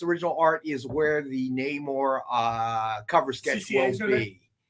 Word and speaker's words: Namor: And it's Namor. I know it's right. No matter what they say. You're not going to like the way it's pronounced. I like. He's also from Atlantis. I like what Marcus says. It sounds different underwater.